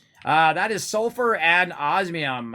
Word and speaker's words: osmium: is sulfur and osmium i'm gonna guess that's how you say it actually let's go ask the internet how do we say that uh oz miam there we go how do you say that let's uh let's ask the google osmium oh i got it right osmium okay good uh